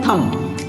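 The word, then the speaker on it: thumb: बाद भी है तो बी आपका इसमें साइलेंट है इसको हम पढ़ेंगे सॉरी इसको पढ़ेंगे हम थंब अगला सब्जी को कहते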